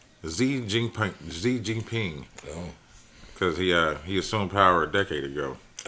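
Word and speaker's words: 习近平: I thought this was Roman numerals. It's Xi Jinping.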